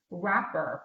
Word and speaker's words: WRAPR: It's called Wrapper, but it's spelled kind of strange. Let me just. Oh, I think I heard of that one. Yeah, it's WRAPR.